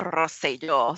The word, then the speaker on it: Rosselló: The current governor of Puerto Rico, his name is Ricardo Rosselló, so roll your R's, ladies.